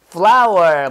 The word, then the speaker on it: flour: 밀가루는 flour. 뭐랑 발음 똑같아? flour랑 발음 똑같아요. 밀가루는 꽃하고 똑같아. flour.